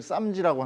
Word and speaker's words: SAMG: 우리가 부르기 쉽게 이거를 쌈지라고 하는 거군요 투자자분들이 이렇게 부르기 쉽게 그냥 밈처럼 쌈지 엔터라고 부르고 불려주고 있습니다 정확히는 samg 엔터인데 이게 이제 스펠로 하면은 쌈지 이렇게 발음이 되니까 중국에서 지금 대박이 나가지고